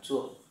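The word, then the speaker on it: 作: Đọc là chuộc. Âm Việt là chữ tạc nhé.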